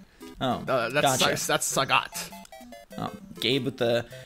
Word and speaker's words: Sagat: Street Fighter Saget. No. Oh, That's Sagat. Oh, Gabe with the pronunciation lesson, but Gabe is not featured in